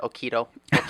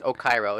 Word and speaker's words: Okyro: Everyone pronounces it Okiro or something like that. It's Okyro. It's Okyro, guys.